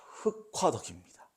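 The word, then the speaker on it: 흙화덕: 흘화덕이 아니고요. 흑화덕입니다. 흑화덕. 자음군 단순화, 그러니까 자음군 단순화를 하고요. 격음화를 한 거예요.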